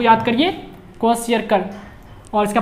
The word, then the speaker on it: Kwashiorkor: एज क्वेशियरकर, ठीक है, spelling को याद करिए, क्वेशियरकर, और इसका प्रोनाउंसिएशन पे भी ध्यान दीजिए, 2-3 बार बोलिएगा तो याद हो जाएगा।